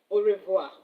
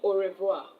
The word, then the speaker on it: au revoir: Au revoir. You want to say goodbye in French, au revoir.